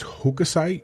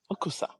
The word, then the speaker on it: Hokusai: Today's guest is Hokusai Universe, a blockchain project inspired by one of Japan's greatest artists.